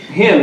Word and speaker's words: hymn: Uh but him is spelled H Y M N.